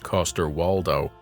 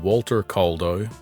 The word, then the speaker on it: Coster-Waldau: absolutely carried by nicolaj Coster walow which I was pronouncing Walter Calo before I looked at my notes The Game of Thrones